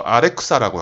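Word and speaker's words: Alexa: 근데 웃긴 거는 이제 그 알렉사가 일본에서는 알렉사라고 발음 안 하고 아레쿠사라고 하거든요.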